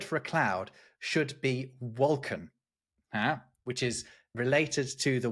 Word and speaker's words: wolken: You don't pronounce the N at the end.